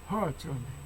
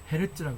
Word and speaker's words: Hertz: 이거를 발음은 미국에서는 hertz인데 HERTZ인데 이거는 독일어로 발음을 해야 돼. 그 사람 이름이니까 헤르츠라고 그래요.